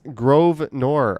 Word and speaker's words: Grosvenor: It's Grosvenor.